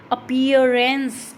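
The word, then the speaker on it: appearance: अपीयरेंस, अपीयरेंस, यहाँ पर भी क्या आ रहा है, पियर पर क्या आ रहा है, स्ट्रेस आ रहा है।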